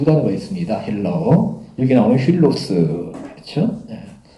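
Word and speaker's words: φίλος: 여기 나오는 힐로스. 그렇죠? 왜 필로스를 하는데 약간 히읗 발음이 납니다.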